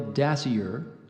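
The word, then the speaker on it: dasyure: that somewhat resembles a weasel the spotted tail dassier is commonly known in Australia as the tiger cat dassier are there any alternate pronunciations there's not dashier d a s s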